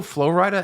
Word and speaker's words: Flo Rida: And it's weird because I don't know Flo Rida at all. There's another song he has It's called...